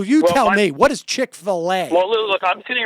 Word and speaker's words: Chick-fil-A: give a crap well chick fila or filet I suppose as it's supposed to be pronounced um it's kind of